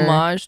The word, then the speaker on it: homage: homage homage to Twitter homage to Twitter homage I think that's how you say homage silent h oh it's oh yeah